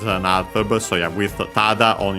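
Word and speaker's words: ただ: Then we have tada. Several meanings technically, but yeah, this is the fundamental one. Only, merely, just, simply. This is one of the most common ones. Accent on the first more.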